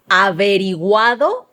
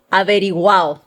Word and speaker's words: averiguado: The second one we have for you today is averiguado or averiguado, like they would say it here.